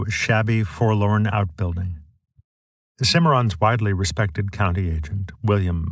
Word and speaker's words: Cimarron: pronounce our map names the Cimarron should end with Rhone and the county seat